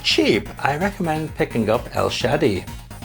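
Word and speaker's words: El Shaddai: i recommend picking up el shadi yeah i'm pretty sure that's how it's pronounced what's the japanese japanese says uh er shady so yeah el shadi that's what it's called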